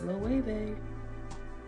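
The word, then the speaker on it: Elle: Vogue and one is l and yes I pronounced it correctly it's l and then I have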